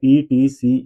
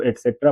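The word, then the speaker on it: et cetera: इसकी जो पूरी स्पेलिंग है वो है ई टी सी ई टी ई आर ए एक्सट्रा ये एक्सट्रा का ही छोटा रूप है जिसे हम ईटीसी करके जानते हैं।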